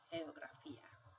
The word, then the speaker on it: geografía: So if you have the word geografía, you will see that this G sounds like an H, and this G sounds